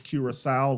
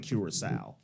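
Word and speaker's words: curaçao: how to pronounce it it's curile like the island curile curile curile all right let's get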